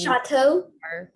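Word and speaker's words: château: another word otor h chateau um yeah chateau is eiu but um yeah the the au is pronounced with an o in french typically wouldn't like a word like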